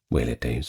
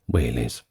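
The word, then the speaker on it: velites: now don't get confused that is spelled with a V at the start if you are going to look it up but is pronounced wh days or singular whes these were the light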